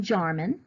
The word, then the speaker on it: Jarman: even easier to remember so now people know that you say my name jarman and you spell it jar man and that was easy